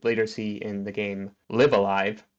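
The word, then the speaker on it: Live A Live: But two, this is really similar to what we would later see in the game Live Alive or Live Alive as it's technically supposed to be pronounced.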